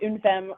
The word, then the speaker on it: Une Femme: Yeah, we call it une femme, or yeah, we pronounce it une femme, or some French people call it une femme, but it means one woman in French.